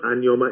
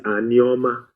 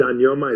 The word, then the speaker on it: Anioma: So what I'm trying to say to you is, Anioma people, and it's not Anioma, it's Anioma. I will teach you how to pronounce these things properly because sometimes you pronounce them and I laugh.